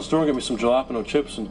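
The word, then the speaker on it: jalapeño: Jalapeno? What flavor is that? Ricky, Jay's silent. The J's like an H, Ricky.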